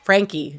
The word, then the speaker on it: Franke: And Ruby Franke is Frankie. Ugh, I'll never get used to that.